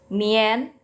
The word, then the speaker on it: mian: seperti ini, DIAN ya, itu bacanya harus selalu yen. Jadi MIAN bukan bacanya mian. Ini juga yang kedua bukan bacanya tian. Ini juga yang ketiga bukan bacanya dian. Ya, bukan ya. Tapi mien, tien, tien.